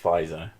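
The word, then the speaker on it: Pfizer: this dog i think it's just pronounced fizer even though it's got a pee at the front yes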